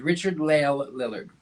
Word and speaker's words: Richard-Lael Lillard: My first name is Richard-Lael. My last name is Lillard. Richard-Lael Lillard. Richard-Lael is one name.